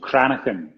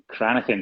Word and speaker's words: Cranachan: It's called Cranachan. Cranachan, yes.